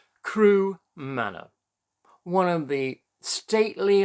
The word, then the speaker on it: Carew: have a look at crew manner and it's spelt c-a-r-e-w but everywhere i've seen people have been pronouncing it as crew so let's go along